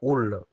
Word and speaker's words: houle: Par la houle. La houle commence par un H muet.